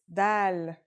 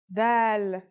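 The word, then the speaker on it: دال: our first letter is DAL it's just like the English D very easy to pronounce and easy to write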